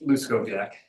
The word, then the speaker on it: Luskoviak: How do you say your last It's Luskoviak. It's just like the way it's spelled.